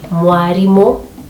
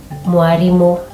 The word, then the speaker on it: mwarimo: Number 2, R will always replace L. Just like I said, Paul will be Fauro. And a word that is borrowed from Swahili, like a teacher, mwalimu, will be mwarimo, mwarimo.